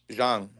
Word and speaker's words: Zhang: You know that it's actually pronounced Zhang, right? Zhang. Yeah, we're so American that we say Zhang. The way it's spelled, it's not. It's Zhang. It really is Zhang.